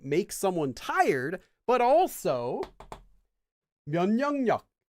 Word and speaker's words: 면역력: So not only does a lack of sleep make someone tired, but also 면역력. 면역력 is probably, in my opinion, the most difficult Korean word to pronounce for a non-native speaker. 면역력 is immune system.